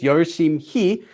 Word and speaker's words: 열심히: And work hard is 열심히, 열심히, which is pronounced due to sound change rules as 심히, 열심히. When you say it quickly, if you say it slowly, it's 열심히, but due to sound change rules, this H goes away, so it just becomes 열심히, pretty much.